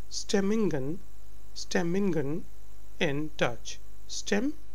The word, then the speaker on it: stemmingen: Moods are called stemmingen in Dutch. Stemmingen. So it's G. The sound is G. It's not H as in the usual words, because it's in the middle.